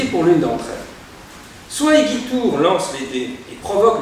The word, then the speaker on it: Igitur: Igitur d'ailleurs se prononçait à l'époque Igitur, hein, dans la prononciation du latin de l'époque, faisant entendre dans Igitur